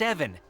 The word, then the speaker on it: Ivan: Evan! It's pronounced Evan.